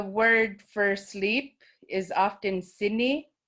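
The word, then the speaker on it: sinik: words and the word for sleep is often sydney s i n i k and any any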